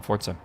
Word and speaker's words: Forza: That's how you say it, man. Forza.